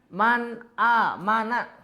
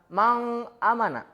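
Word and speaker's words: مَنْ آمَنَ: Man, a, mana. Tadi apa katanya idhar itu? Jelas. Jadi dibacanya harus jelas. Jangan mang, amana. Jadi bacanya harus jelas. Si nun matinya itu harus dibaca jelas.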